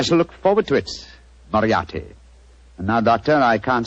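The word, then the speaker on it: Moriarty: m o r i a r t y mariati Marti I shall remember that name I have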